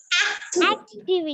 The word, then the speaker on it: activity: and the pronouncing is And the last one? activity.